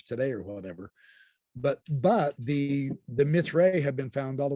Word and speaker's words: Mithraea: I don't even know if I'm pronouncing that right. It's Mithraea.